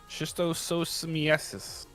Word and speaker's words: schistosomiasis: Schistosomiasis.